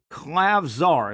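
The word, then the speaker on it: Klavžar: guys through the grapevine that the clav clav clavar is how you pronounce it clavar European kid Slovenian can really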